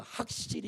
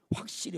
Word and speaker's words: 확실히: 소화 캥 화기 화학적 경상도 분들은 확 을 못 해요 그래서 학 씰이 이래 확실히 확실히 확실히 가 아니고 예 발음을 잘 해야 돼요 다시 합니다 소